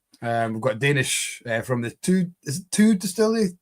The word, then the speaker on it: Thy: We've got Danish from the two distillery, although it's spelled T-Y-E. It's spelled Thy, but it's pronounced two.